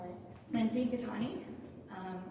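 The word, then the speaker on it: Lindsey: can you just say your name again and spell it lindsy gani um l i n DS e y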